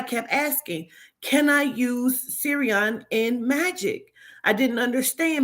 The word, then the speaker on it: Sirrion: but I kept asking I got the answer Siri on but the way they spell it I spelled it s-e-r-i-o-n they spell it s i i r r i o n okay they have it